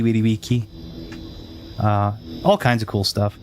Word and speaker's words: vici: But it's salve, salvete, winnie weedy wiki, not veni vidi vici, but veni vidi wiki.